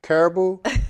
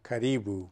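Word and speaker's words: Karibu: Well, everyone says Caribou. The correct pronunciation is Caribou.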